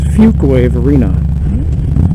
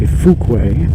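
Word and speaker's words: Fuquay-Varina: It's Fuquay Arena. A lot of people say Fuquay, which is not correct.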